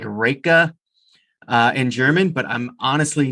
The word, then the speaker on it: Riecke: name is Riecke, and we pronounce it Ricky, which actually is completely wrong. It's German descent, and when I talk to some German people, they've corrected it. And to be honest, I don't even really know how to pronounce it, but we just go with Ricky, isn't it?